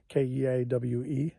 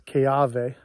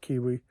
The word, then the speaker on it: Keawe: My father's legal name is Vern Charles Keawe, Keawe. The W is pronounced as a V because the Hawaiian language was first translated into a written language for the first time by a German fellow.